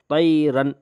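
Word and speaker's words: طَيْرًا: کو اظہار کہتے ہیں۔ یعنی جیسے طیرن، رن، ایسے رن یہ غلط ہے، طیرن ایسے۔ اب ہم پہلے ہجے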